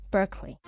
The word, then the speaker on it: Berkeley: the area after him, but pronounced in American fashion, Berkeley.